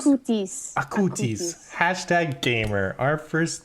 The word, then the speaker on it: Acutis: Acutis? Acutis.